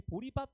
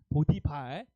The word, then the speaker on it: 보디발: 제가 예전에 영류집에서이 얘기했더니 애들이 보리밥 이렇게 얘기하더라고요. 어 발음을 제일 못 해. 보디발 이러니까 보리밥 이래. 보디발 기억 잘하겠죠? 이제 보리밥으로 기억하지 마요.